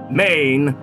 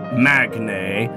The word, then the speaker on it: Magne: me to continue to regard myself as maine not magnay or magna it may the g is silent now as we know